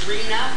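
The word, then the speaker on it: RHNA: is H the the term for it is Reena that's how it's pronounced it is a government code it's been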